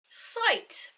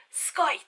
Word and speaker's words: Scythe: Site by Neil Schustman.